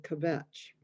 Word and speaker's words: kvetch: come to me and kvetch. So that was basically my job. Kvetch, not 2 syllables.